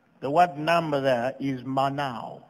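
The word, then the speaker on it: מנה: us to number the word number there is manao right now now but it's spelled as m-a-n-a-h right now now is pronounced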